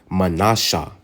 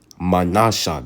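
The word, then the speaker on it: מנשה: 7 is in the Hebrew is Manasha. Manasha. That's how you pronounce it in the Hebrew.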